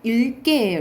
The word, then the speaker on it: 읽게: 리을 미음 하면 미음, 리을 기억하면 여기 리을이죠. 왜냐면 뒤에 기억이 오면 쌤이 리을로 발음된다고. 그래서 읽게예요. 읽게.